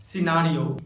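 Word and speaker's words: scenario: जब letter S के बाद सी आता है तो लेटर सी साइलेंट होता है, जैसे सीन science muscle disciple सिनारियो।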